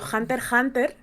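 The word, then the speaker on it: Hunter × Hunter: verdad Bueno e claro Yo diría que la x es muda porque por ejemplo cuando yo pronuncio Hunter Hunter yo digo Hunter Hunter Álvaro dice Hunter por Hunter creo es Hunter por Hunter yo digo Hunter Hunter pero la autora ha ha dicho que es Hunter Hunter me da igual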